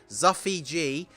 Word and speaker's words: Zuffy G: like buffy that's it it's pronounced like buffy and not like luffy so it's zuffi g with the channel membership